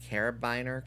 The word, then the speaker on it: carabiner: Lesbians seem to have a carabiner code. Carabiner is how that's pronounced.